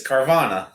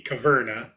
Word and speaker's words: Caverna: how you pronounce it it's carvana no that'd be caverna yeah we didn't sell